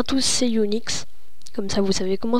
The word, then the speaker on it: Unx: Ok, bonjour à tous, c'est Unix. Comme ça, vous savez comment se prononce mon pseudo.